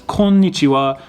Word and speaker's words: konnichiwa: at the end but you don't really pronounce the w really heavily in this almost like